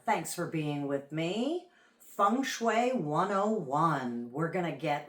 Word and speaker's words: feng shui: Funue 101. We're gonna get right into it. So, literally thing shuy as it's called in America or funue if I'm doing the best pronunciation I can on that literally means wind and water.